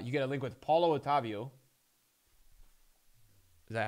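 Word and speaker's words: Paulo Otávio: like 500k uh you get a link with paulo otavio is that how you say it yes paulo otavio uh claibor obviously you won't play off chem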